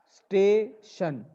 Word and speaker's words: station: Tion pronounces like shun. Station.